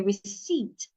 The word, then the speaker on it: receipt: The P is silent. Say receipt.